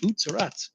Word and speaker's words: Utz: what is the proper way to say that OOTS um that's why you can find them a